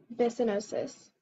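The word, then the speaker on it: byssinosis: from the Greek osis meaning process um yeah bison OSIS can I have the part of speech please noun are there any alternate pronunciations no just bisonosis bisanosis B y s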